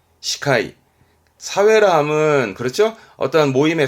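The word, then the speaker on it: 司会: 발음은 시카이, 시카이.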